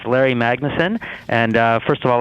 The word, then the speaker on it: Magnesen: i probably messed up both of your name pronunciations well that's no problem whatsoever it's larry magnussen and uh first of all let me compliment